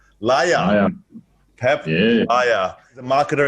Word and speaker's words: Laja: Laja.